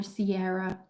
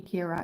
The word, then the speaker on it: Kira: It was either Sierra or Kyra, but it's actually Kira, it's Irish.